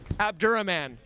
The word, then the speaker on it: Abdulrahman: place we have abdulrahman god i hope i said your name right did i say it right abdurah man ah i was close yeah you were better